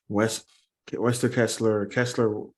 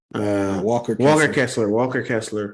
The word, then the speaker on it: Walker Kessler: Wester Kessler. I don't know. I'm saying his name wrong.